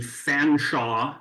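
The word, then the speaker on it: Featherstonhaugh: it's this vehicle um this is the fanshaw electric car and yes that's how featherston ha is pronounced I hate it too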